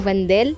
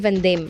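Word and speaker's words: Vandal: جماعه انا عارفه ان هو اسمه فاندال باللام، بس انا يعني بقول عليه فاندام عشان شفت كذا حد بيقول لي اسمه فاندال.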